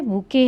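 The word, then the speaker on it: bouquet: ये देखिए बच्चों क्या है, बुके है, ये इसमें टी आपका साइलेंट है।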